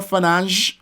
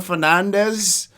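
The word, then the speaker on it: Fernandes: little bit more about Bruno finance or Bruno Fernandez you know pronounce it like the Portuguese way you know for now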